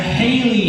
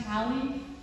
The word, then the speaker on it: Haley: Is there a Haley here? Here, but it's pronounced Hallie.